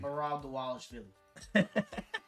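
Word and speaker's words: Merab Dvalishvili: Marab the Wallish Philly.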